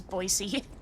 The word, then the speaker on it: Boise: It's not pronounced as boys. It's pronounced as Boyisey soup.